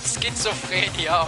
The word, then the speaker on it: schizophrenia: Dude, you're pronouncing it like it's a dog breed. Schizophrenia, okay.